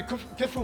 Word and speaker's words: kitfo: They're both kitfo.